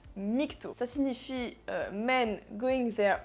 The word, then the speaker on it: MGTOW: Déjà, ça se prononce "migto", ça signifie "men going their own way", c'est à dire les hommes qui suivent leur propre voie.